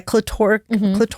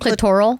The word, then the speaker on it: clitoral: I've heard about a clitoric. Is that how you say it? Clitoral. Clitoral orgasm.